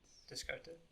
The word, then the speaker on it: Descartes: Descartes. I don't think that T's pronounced.